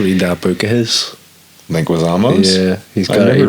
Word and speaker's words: Leguizamo: Leguizamo. Leguizamo.